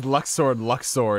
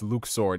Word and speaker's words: Luxord: Just how we pronounced Luxord, and then we found out it's Luke Sword.